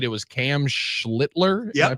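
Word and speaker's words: Schlittler: It was Cam Schlitler. Am I pronouncing his name correctly?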